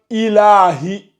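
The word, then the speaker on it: إِلَٰهِ: Regarde, en fait, tu rajoutes la shadda quand tu appuies sur le, quand tu dis ilahi. En fait, il faut le lire simplement. Ilahi. Fais attention, tu le lis simplement. Ilahi.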